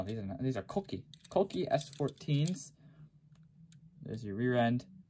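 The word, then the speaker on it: Kouki: the more aggressive looking headlights and it is pronounced koki not cookie uh that the japanese purist gets really mad about that one so don't call it cookie it's a cokey and of course there's zenki right there winky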